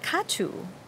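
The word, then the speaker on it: Ca trù: And then able to learn a little bit of Katu, which is spelled, in romanization, C-A and then T-R-U.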